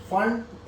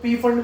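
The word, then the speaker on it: Pfund: फंड। इसमें पी silent होता है, ये ध्यान रखना है ना? तो इसको कई लोग पी फंड भी बोलते हैं, कई लोग फंड भी बोलते हैं।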